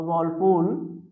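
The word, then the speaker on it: whirlpool: Basically जब हम एक वर्ड यूज करते हैं अ वॉलपूल, और इसमें आर साइलेंट होता है, वॉलपूल पढ़ते हैं इसको, अ वॉलपूल ऑफ मिजरीज, मिजरी।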